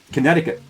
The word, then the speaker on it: Connecticut: Connecticut. So it's just a silent C.